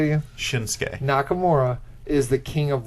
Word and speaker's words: Shinsuke: Shinsuke. Shin- You said like Shunosuke or some. You put like 4 extra syllables in there.